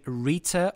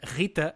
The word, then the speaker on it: Rita: So I'm not going to say Rita or Helena, but rather Rita and Helena.